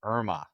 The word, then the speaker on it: IRMA: from IRMA or IRMA is how they say it.